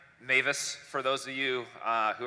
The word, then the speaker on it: Mewes: that doesn't make sense it's actually a German last name I speak no German I've never been to Germany but somehow we kept the pronunciation of Mavis over the years so today we're going